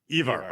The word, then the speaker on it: Ivar: First of all, Ivar or Ivar, how would you pronounce it? Ivar. Evar. Okay. Evar it is for going forward.